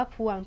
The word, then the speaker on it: พวง: นะ คะ ว่า แหวน ตัว นี้ พวง อ่าน ว่า พวง เป็น สระ อัว ซึ่ง ไม่ ได้ อ่าน ออก เสียง ควบ กัน เลย ก็ เลย ก็ เลย ไม่ เรียก ว่า คำ ควบ กล้ำ นั้น เอง นะ คะ หา